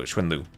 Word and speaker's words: XuanLv: So this is a very short u at the end then. Okay. So Schwinlu, not like a Lu like.